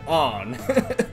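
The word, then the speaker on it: Ann: cuz it's spelled an but you know they pronounce it on she's so hot man you better believe I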